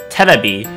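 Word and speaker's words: テレビ: When we take this word and we transform it into the Japanese katakana version, it's simply going to be 3 syllables, and it goes terebi.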